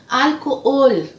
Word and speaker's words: alcohol: A palavra álcool, álcool. Em espanhol, trocando a posição da sílaba tônica, eu vou ler alcohol, alcohol. Álcool, alcohol.